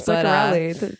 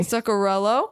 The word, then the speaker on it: Zuccarello: You were close. It ends in an O, not an I. Zuccarello. Yeah, there you go. Have a fun time and put like a curse on Zuccarello, and then I'll be